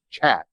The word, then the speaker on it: khat: of the countries and it's spelled khat but if i understand it correctly it's pronounced chat it's the chat industry is that correct